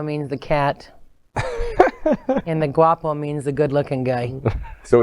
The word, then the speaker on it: Guapo: You call yourselves the Gato and the Guapo. Did I pronounce that right?